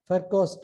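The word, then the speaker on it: Virchow: formation so this is called fercos triad v is pronounced as f and the father of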